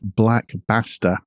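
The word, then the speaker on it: Black Basta: in question is called Black bastter and I've got to pronounce that very carefully b a s and the threat actors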